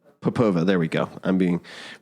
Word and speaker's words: Popova: Maria, I need to I need to do a refresher on your name pronunciation. I apologize. What was it? Popova.